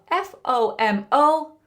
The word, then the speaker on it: FOMO: Have you Have you heard of FO M O? FOMO. FOMO, pronounced fomo, is a common online acronym which stands for fear of missing out.